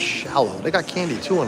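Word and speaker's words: Scialo: Is it Xialo? Shallow. Just shallow like like the song.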